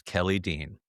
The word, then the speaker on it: Kelly Dean: My name is Kelly Dean. Rhymes with jelly bean.